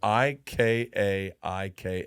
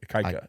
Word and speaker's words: Ikaika: IKAIKA is how you say it. Ikaika. It's Ikaika. He said, hey, man, take your time. Ikaika. This is German, isn't it? No, it's very Hawaiian.